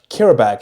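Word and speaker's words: Qarabağ: First game is Newcastle versus Karabakh, is how you say it.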